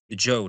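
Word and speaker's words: Zhou: lost their power to what we call the Joe dynasty or the I think there's a couple different pronunciations. It's spelled Z H O U but as we know pronouncing words in Chinese and English it doesn't always look like the letter letter say.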